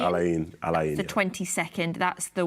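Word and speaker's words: Al Ain: And then after that, we'll play Alin. Not Alan. Not Alan. Alain. Is it A-I-N? A-I-N. Alain, yeah.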